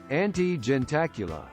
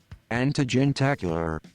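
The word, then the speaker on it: antejentacular: We're getting a pronunciation on this. Antigentacular. Ante-gentacular.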